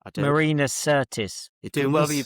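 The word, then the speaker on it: Marina Sirtis: I Marina Certis. You're doing well with your pronunciations this weekend.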